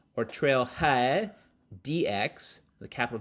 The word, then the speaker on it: TrailheaDX: were there so it's the third year it is spelled trail head x or trail head dx the capital d in x is pronounced trailhead